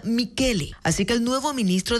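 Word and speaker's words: Michele: se pronuncia Así que este Michelle se pronuncia mikele Así que el nuevo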